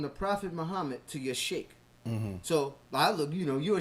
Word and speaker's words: sheikh: It's really, you don't say it like that. You say sheikh.